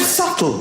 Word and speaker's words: subtle: The word subtle. Would anybody object if it was spelt s u t l e?